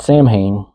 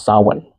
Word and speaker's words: Samhain: Not Samhain, it's Samhain.